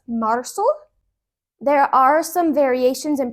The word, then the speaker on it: marzo: And yes, I did pronounce the Z as an S, marzo.